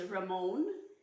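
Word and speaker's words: rimmon: And the Hebrew word for pomegranate is ramon, and it's spelled R-I-M-M-O-W-N in the English.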